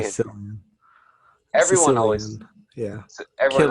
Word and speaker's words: Cillian: Cillian. Everyone always Sicilian. Yeah. everyone always Killian. says It's with a K, not a C. Well, it is with a C, but it sounds like a K.